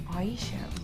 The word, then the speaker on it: Aisha: This has been made by Aisha, rhymes with Croatia. Aisha.